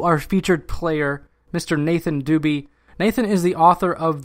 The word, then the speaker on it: Dube: Okay, so Nathan, and then your last name, is it D-U-B-E? That's correct. It's pronounced Dube.